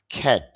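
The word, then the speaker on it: cat: তাহলে এখানে ক্যাট না বলে আমরা উচ্চারণ করব খ্যাট।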